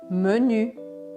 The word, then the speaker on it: menu: Ainda na área da gastronomia ou da comida, a gente tem as palavras menu, menu, tá? A pronúncia sempre aqui é diferente.